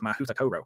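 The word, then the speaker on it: Mahoutokoro: For instance, the Japanese school is called Mahuta Koro. Now, that might not sound right to you, but that is the pronunciation guide given on the website.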